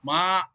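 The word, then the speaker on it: mǎ: We say we can pronounce ma. Falling and rising tone, like third tone. It will be fall first and then will be rising.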